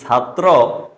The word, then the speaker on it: ছাত্র: যে লেখাটা রয়েছে একটু লক্ষ্য করুন তো এটার উচ্চারণ কি হবে এটা কি ছাত্র বা ছাত্রী হবে নাকি ছায়ে ছাই হবে আসলে